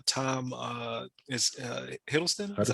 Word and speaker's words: Hiddleston: like Tom is Hiddleston. Is that how you say it? Huddleston. Yeah. Hiddleston. Hiddleston.